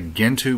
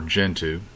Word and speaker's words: Gentoo: look at Sean Linux Sean Linux is a gentu based operating system or gentu depending on how you want to pronounce it it's the first gentu